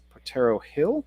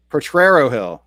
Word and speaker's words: Potrero Hill: Potrero Hill. Okay, yes. Missed the extra R.